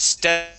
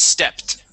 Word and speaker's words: stepped: the word stepped okay instead of Ste it is stepped stepped excellent okay uh this word